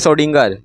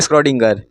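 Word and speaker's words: Schrödinger: या एक फार्मूला आएगा अब देखो यहां पे जो आ होता है ना साइलेंट होता है तो उसको बहुत लोग बोलते हैं सडिंग हम बोलेंगे स्कडिंग चलेगा कुछ भी बोलो क्या जाता है तो सडिंग कर वेब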